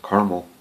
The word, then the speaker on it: caramel: Or as my wife says, caramel. Must be a Michigan thing. Everybody up here says caramel. They look at me funny when I say caramel, and I'm like, well, look how it's spelled.